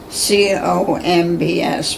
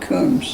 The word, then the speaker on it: Coombs: But it was like Comb, Combs, but you pronounce it Coombs.